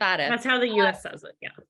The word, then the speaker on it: FATF: Is that how you say it, FATF? Right? Leslie Johns: Yeah, that's how the US says it. FATF.